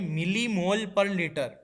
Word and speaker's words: mmol/L: तो यूनिट है MMOL/L, इसको प्रोनाउंस करेंगे मिली मोल पर लीटर।